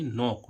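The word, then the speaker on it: knock: तीसरा नियम है जब भी किसी वर्ड में के बाद एन आए तो वहां पर के साइलेंट रहता है। अब देखो इसमें के एन ओ सी के एन ओ सी के इसको क्या पढ़ेंगे? नोक। नॉक मींस क्या होती है? 10 तक। अब देखो यहां पर के क्या हो रहा है? साइलेंट हो रहा है।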